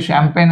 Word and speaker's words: champagne: So actually షాంపెయిన్ అనేది ఏంటిది అంటే ఇది ఫ్రెంచ్ వర్డ్. సో ఇందులో సైలెంట్ ఏది వస్తుంది అంటే షాంపెయిన్ అంటే G వస్తుంది. ఏమొస్తుంది? G అనేది silent letter, right, as per French origin word, right.